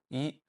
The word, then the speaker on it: 一: When some Cantonese speakers from Hong Kong speak Mandarin, they pronounce all of them on the first tone, yi, and it's still very easy for me to understand them.